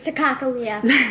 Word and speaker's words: Sacagawea: Yeah, so the Sacagawea, Bug likes to say Sacagawea because she read somewhere that is the correct way to pronounce it.